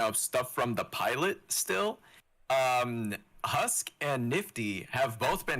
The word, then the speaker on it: Husk: Yeah, then a Husker is how you say his name?